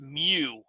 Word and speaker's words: mu: whole population we'd use this Greek symbol that's pronounced mu looks like a you with a long line